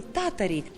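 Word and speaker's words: Tatari: Ударение в эстонском языке падает на первый слог, поэтому мы говорим «татари».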